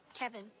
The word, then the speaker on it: Kevin: Kevin. Kevin. Kevin. Kevin. Like Kev in.